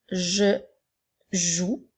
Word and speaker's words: joue: Je continue avec « je joue ». Alors, nous avons « J », E. Ensuite, nous avons « J », OU. Le son OU s'écrit O-U-E. Le E étant une lettre muette.